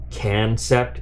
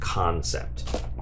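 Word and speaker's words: Kansept: so let's see but if you didn't know can sept is pronounced concept we get corrected by people if you say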